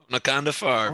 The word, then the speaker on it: Onaconda Farr: She meets with the Rhodian senator, and I'm gonna mispronounce it, so you got to help me with this, Sam. But Senator Onaconda Farr. Onaconda Farr, very good.